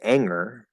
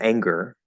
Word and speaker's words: anger: singer but compared to if you never say the g like if you say anger instead of anger which sounds horrible um i think that